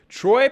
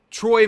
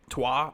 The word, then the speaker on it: trois: So, Troy means 3. Un, deux, trois. Un, deux, trois. I think it's trois, maybe.